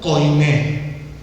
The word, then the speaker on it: koiné: Griego antiguo o koiné. Con K y con acento en la E. Koiné.